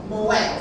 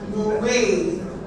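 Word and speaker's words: Moët: Moette. Sorry. Yeah. So, some people pronounce it as Muay, but unfortunately you're very wrong.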